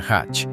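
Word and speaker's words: 八: representa el número ocho que en japonés se pronuncia hach y por est esta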